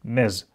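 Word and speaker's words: Ms: И к женщинам неплохо бы на письме, да и не только на письме, обращаться как просто "миз". Именно вот так вот. Пишется как эм-эс, а читается это как /məz/, через /z/.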